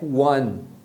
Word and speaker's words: one: ó como em Dom e uma que tem um som de One que é one one Então essas algumas palavras